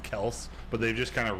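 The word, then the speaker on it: Kelce: wasn't lying to me his last name is pronounced Kel but they've just kind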